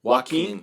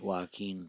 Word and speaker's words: Joaquin: you say queen how do you say it Joaquin Joaquin Bud jockey what is going on over there